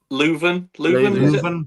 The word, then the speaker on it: Leuven: pronunciation. O-H Leuven? Leuven.